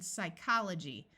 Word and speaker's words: psychology: F like in laugh when a word starts with PS the p is silent like in Psychology notice the CH uses